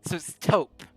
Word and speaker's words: taupe: Is it pronounced taupe? Okay, so it's taupe. Okay, I'm going to assume taupe like soap with a T.